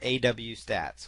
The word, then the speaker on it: AWStats: There is something called Webalizer or AW Stats or AWStats, depending on how you want to pronounce it.